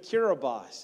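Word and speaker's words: Kiribati: to the country of kirbas and I did pronounce that right it's kabati in the way you spell it but TI is an s in their language and so blame a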